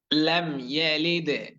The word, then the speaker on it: لم يلد: এটা এই শব্দের মধ্যে তেমন বেশি কোনো জটিলতা নেই, কঠিনতা নেই, খুব সহজভাবে সুন্দর করে বললে মোটামুটি শব্দগুলোর সঠিক এবং শুদ্ধ উচ্চারণ আদায় হয়ে যাবে ইনশাআল্লাহ। তবে লক্ষ্য রাখতে হবে টান যাতে না হয়।